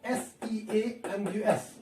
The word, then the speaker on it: Seamus: Note the pronunciation of S-E-A-M-U-S. It is Seamus Heaney.